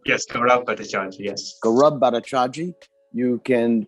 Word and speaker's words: Bhattacharjee: And if you want to contact Gaurab, is that the right pronunciation? Gaurab. Yes, Gaurab Bhattacharjee, yes.